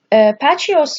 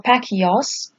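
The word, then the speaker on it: Bacchus: Okay, so Pachios or Pakios, it is either the same pronunciation.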